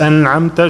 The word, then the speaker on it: أنعمت: الصراط المستقيم صراط الذين أنعمت عليهم غير المغضوب عليهم ولا الضالين. أحسنت. بس أنعمت شوية لا تهز. Okay, don't bounce the noon.